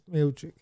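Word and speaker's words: Miočić: Miocic, or however you pronounce it, Miocic. I'm thinking of Miocic, the wrestler from Indiana. It's Miocic.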